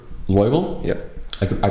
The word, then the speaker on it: Loibl: more no records so your name is g loable yep I I pronounced it correctly perfect wow okay that's a